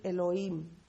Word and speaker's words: Elohim: Elohim, así se pronuncia.